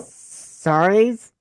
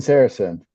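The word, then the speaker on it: Sarazen: Gene, I'm gonna try to pronounce these correct. Gene yep. Suarez. That's Gene Saracen.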